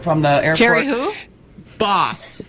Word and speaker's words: Bos: out today it's actually Bose is correct if you're saying the Dutch pronunciation.